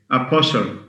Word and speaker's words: apostle: Okay, apostle, A-P-O-S-T-L, T silent. This is a watertight rule, by the way.